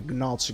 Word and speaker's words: gnocchi: I can't stand spaghetti, gnocchi. Gnocchi is something that is gnocchi. That's the real pronunciation, but yeah. Gnocchi. Try it again. Gnocchi. That's nice. Because the sound ñ isn't there in English, so also Bologna.